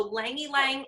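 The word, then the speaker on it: ylang-ylang: So Lang Ylang, it's spelled Y-L-A-N-G, Huh.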